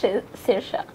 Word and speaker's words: Saoirse: think it's got a seizure really yeah it's pronounced Saoirse okay I'm I'm gonna give up these people